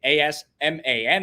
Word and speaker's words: Asman: it's just my name asman it's pronounced as as in a z and then min m-i-n i want to thank